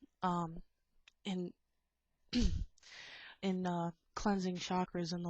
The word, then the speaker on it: chakra: in in uh cleansing chakras and the like which I think I should probably do a nice chakra balancing after this uh whereas it's actually pronounced as shankra uh I'm absolutely terrible